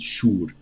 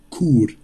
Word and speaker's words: Chur: Das heißt, sie sagen dann WD Schur, das heißt nicht Schur. Genau ausgesprochen heißt es Chur, wie mit einem Q.